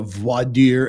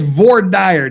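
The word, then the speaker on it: voir dire: V dire as we say in Utah the V deer as Fufu you know people that pretend to know Latin pronounce it it's VOR dire damn it because that's that's how we pronounce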